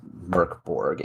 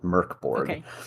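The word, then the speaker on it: Mörk Borg: where it says like pronunciation is Merk Borg it's a Swedish it means dark Fort and yeah it's pronounced M Ur k b o RG Merk Borg at least that's that's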